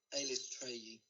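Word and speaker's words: Eilistraee: Elistray. That's how you pronounce it.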